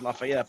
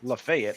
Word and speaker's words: Lafayette: Like in New York we have like Lafayette, you know, and they pronounce Lafayette. But in like Tennessee there's a city called Lefayet. It's pronounced it's spelled the same way, but it's Lefayet.